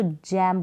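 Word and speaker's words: gem: में, तो यहाँ पर आप इसको गैम नहीं पढ़ेंगे, इसको प्रोनाउंस करेंगे जी को ज, तो जैम बन जाएगा।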